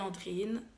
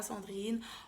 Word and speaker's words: Andrine: savent pas je m'appelle andrine landre in puisque on a fait autant sandrine je m'appelle pas sandrine encore moins landry n'avait qu'à y montrer